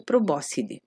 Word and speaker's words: probóscide: Achei muito interessante que se chama probóscide, nem sabia que existia essa palavra em português, porque em italiano, proboscide, que é como se fala, mas escreve exatamente igual, tirando o acento, é tromba de elefante.